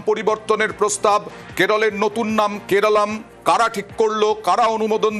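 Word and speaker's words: Keralam: তিনি জানান যে বারবার করেই সাংস্কৃতিক দিক থেকে কেরালের মানুষের কাছ থেকেই এই দাবি আসছিল যে কেরালের উচ্চারণ কেরালাম হওয়া উচিত এবং সেই কারণে কেরাল রাজ্যেরও নাম হওয়া উচিত কেরালম।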